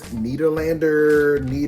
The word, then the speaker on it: Nederlander: Devil Wears Prada is in previews at the James Nederlander. Wow, I pronounced it right.